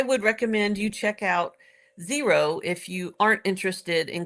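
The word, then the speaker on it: Xero: It practically the same is called Zero and now it's spelled XR O.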